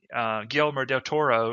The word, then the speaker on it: Guillermo del Toro: It's just that I kind of wish Guillermo del Toro, or whatever his name is.